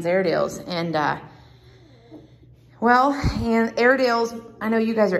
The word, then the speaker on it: Airedale: and uh well and airedale's I know you guys are Airedale buyers so you know how to spell air deals but that a-i-r-e that silent E there is very tricky for people and it's just been